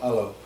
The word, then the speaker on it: halo: Halo, alo, and quite often the H is silent for Indonesian, so alo is how they would pronounce that.